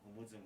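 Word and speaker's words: Jumullong: But we're discussing why they're saying Mount Lamlam and not Mount Humuzung Manglu. Right. That's because not too many people can say Humuzung.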